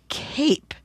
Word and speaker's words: cape: It's the word cape because that silent e changes cap into cape.